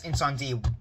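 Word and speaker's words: Incendies: I think that's Incendie from Denis Villeneuve. I'm pretty sure that's how you pronounce it in English.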